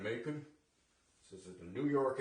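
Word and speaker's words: Macoun: 1 Gala, 2 Red Delicious, 1 Ginger Gold, and I believe it's pronounced a Macon, M-A-C-O-U-N, Macon.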